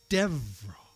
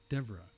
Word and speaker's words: Deborah: Devra. Deborah.